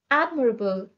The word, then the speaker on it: admirable: synonyms are arbitrate judge admirable the stress is on the first syllable admirable is an adjective which